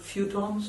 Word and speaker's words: feuilleton: In this country, they were called feuilletons or something like that. I'm not pronouncing it right. Something like this? Feuilleton. Yes. Feuilleton.